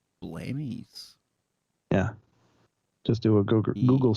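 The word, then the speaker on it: Blemmyes: blemish it's i think it's spelled b-l-e-m-m-y-e-s blamey's yeah just do a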